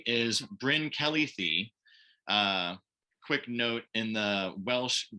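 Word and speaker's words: Bryn Celli Ddu: on the right is bryn kelly thie quick note in the welsh garlic language the double d is pronounced with a th sound so this is bryn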